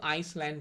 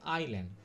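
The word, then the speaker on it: island: যদি অনেকগুলো আইল্যান্ড মানে কেউ কিন্তু আইসল্যান্ড বলবেন না। উচ্চারণ হচ্ছে আইল্যান্ড।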